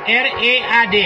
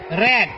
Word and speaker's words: read: Bentuk pertama, bentuk kedua, bentuk ketiga, tulisannya sama, tapi bacanya beda. Ya, tulisannya sama. Nah, R E A D, R E A D, R E A D, tapi bacanya beda.